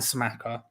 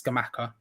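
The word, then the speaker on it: Scamacca: If there was a situation in which we could theoretically sign both Broja and Smaka, that's not how you pronounce it. It's Skamaka, but I keep calling him Smaka, which is incorrect, but still.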